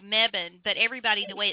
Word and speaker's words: Mebane: I live in a town called Mebane, but everybody, the way it's spelled, they pronounce it Mebane.